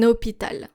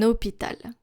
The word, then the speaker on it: hôpital: not with the H, because the H is basically invisible here. Un hôpital. Un hôpital.